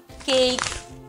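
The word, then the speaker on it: cake: কাহিনীটা কিন্তু একটু লম্বা ই যখনই একটা শব্দের শেষে আসে ই কিন্তু সাইলেন্ট হয় যেমন কেক বেক ফ্লু হেস্ট এই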